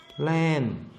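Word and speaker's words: เล่น: 이때 이 발음은 랜, 뜻은 놀다.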